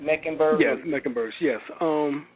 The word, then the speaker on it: Mecklenburg: the ancestry of the meccan birds am i pronouncing that right meckenberg yes megan burks yes um well queen charlotte